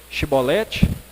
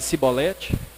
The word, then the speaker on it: chibolete: Se a pessoa dissesse chibolete, podia passar. Se ela não soubesse pronunciar e falasse cibolete, ela estava morta.